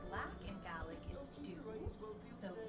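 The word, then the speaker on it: dubh: So the way you say black in Gaelic is dú. So dú, that would be coffee dú.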